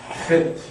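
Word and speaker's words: ח: 헤트 이게 우리 말에 없는 점이기 때문에 한번 따라해 볼까요? 독일어에 이언 있죠? 흙과 같은 것으로 보시면 됩니다. 거센 소리입니다. 거센 소리.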